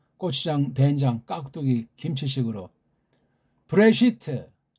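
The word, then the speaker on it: בראשית: 된장 깍두기 김치 식으로 브레시트 브레시트 브레시트 브 레 으 쉬 트 한개 한개 그렇게 발음해요 이게 지금 하나하나가 다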